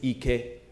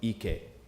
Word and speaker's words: Ike: His name is Ike, not Ike. Can you hear the difference? Ike instead of Ike. Who hears the difference? Okay, same spelling, but Ike means power, strength. Ike, on the other hand, means your ass.